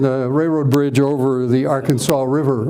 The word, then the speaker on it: Arkansas: railroad bridge over the Arkansas River or is it AR Kanas River I want want to make sure I get my pronunciation right and here's the town